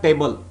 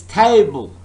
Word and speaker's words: table: It's not table, it's table. The first syllable is stressed.